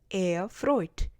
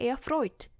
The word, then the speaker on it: erfreut: 독일어에서는 모음 에와 우가 만나면 발음이 오이로 바뀌어요. 에우로 발음되는 게 아니라 오이로 발음됩니다. 그래서 sehr erfreut 이런 식으로 발음이 나게 되는 거죠. 합하면 sehr erfreut 이렇게 됩니다.